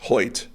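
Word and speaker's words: Hoecht: more fun than anything Michael hoit is that how you pronounce his name yes hoit for the Rams Wild pronunciation given the spell The Edge Defender uh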